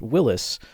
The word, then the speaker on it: Willys: Incidentally, this man, John North Willys, purchased Overland Automotive in 1908. That is why it is pronounced a Willys Jeep, not a Willys.